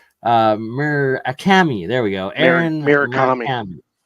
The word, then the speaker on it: Murakami: I can never pronounce his last name right. Murakami. There we go. Aaron Murakami. Murakami, yeah.